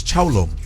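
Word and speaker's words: 成龍: His name in Chinese is Chao Long.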